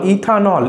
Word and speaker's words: ইথানল: এন আসে তাহলে আমাকে এই ই টা উচ্চারণ করলে আর হবে না ই টাকে তুমি কেটে দাও এটা নিয়মের মধ্যে পড়ে